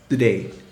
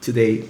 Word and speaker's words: today: If you pay attention, in connected speech, today is often pronounced today with a D sound instead of today with a T.